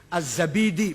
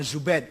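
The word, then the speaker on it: الزبيدي: Az-Zabidi, bukan Zubaid, Zabid.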